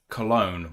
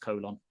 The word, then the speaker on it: Cologne: Irish Incarnate said it is pronounced Cologne. Well, that's boring. Mm-hmm. Though it would be kind of shitty if it was pronounced colon. I don't like it being pronounced that way. There's no W in it. So why is it own?